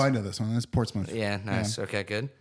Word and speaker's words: Portsmouth: That's Portsmouth. Yeah, nice. Okay, good. PORTS. Not mouth.